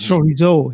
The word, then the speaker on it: chorizo: My brother corrected my pronunciation, by the way, because in France, chorizo is lovely. Yeah, in France, they say. Everything in French is the last syllable, right? So it's chorizo here. But my brother, I was talking to him on the phone. He goes, "It's chorizo." So in Spain, it's probably something else.